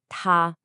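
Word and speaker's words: 他: If you say the word for he or she out loud, they sound exactly the same. Ta, it's a high flat first tone.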